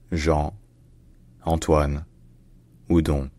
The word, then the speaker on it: Jean-Antoine Houdon: Benjamin Franklin and volair in French his name is pronounced Jean Anan wud Jeanine all right if